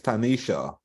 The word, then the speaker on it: Tanisha: And I want to let Tanisha know that I got her pronunciation, and it's Tanisha.